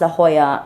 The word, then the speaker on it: La Jolla: want to go out to a place called La Hoya it's spelled La so L A and then j o l a it's pronounced La Hoya and it's basically a very beachy area of